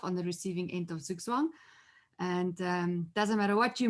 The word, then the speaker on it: Zugzwang: And it's actually pronounced Zugzwang.